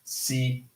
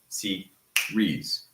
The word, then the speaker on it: series: But series has 2 because IES is not divided. So it's not C-re-S. No, it's just series.